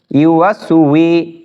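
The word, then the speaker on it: يوسوس: wow scene জবর ওয়াস, ইউওয়াস, ওয়াও জেরে উই, ইউওয়াসউই, scene পেশ সু, ইউওয়াসউইসু, ফা ইয়া জেরে ফি, আল্লাযী ইউওয়াসউইসু ফি, সদ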